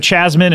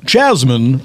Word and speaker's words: Jasmine: of course we have chasmine and sunny am I saying those correctly chasmine no you've been mispronouncing them the whole time you my name is wrong too it's a very subtle difference oh what is it